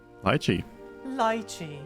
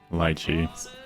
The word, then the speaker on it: lychee: and lychee this is oh lychee lychee lychee that's the British pronunciation let's hear it in American lychee lychee similar and then third